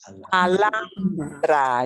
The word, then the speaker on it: Alhambra: honor honor okay uh here's a famous place in Spain uh uh Alhambra you ignore the H completely here's another super important